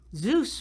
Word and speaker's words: Zeus: gods on mount olympus zeus rhymes with juice he creates disturbances in